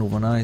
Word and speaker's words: Nuvana: I've talked with him on Skype, and Nuvana is more pronounced like Havana, just new instead of Ha.